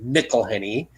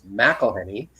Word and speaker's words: McIlhenney: So, anyways, just a little side note on how to spell the name of the new brewing company, Mcilhenney, McIlhenney. And why it's Mac and not Mick.